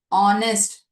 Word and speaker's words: honest: The reason how you should be giving is although the letter is H a consonant letter it is silent over here.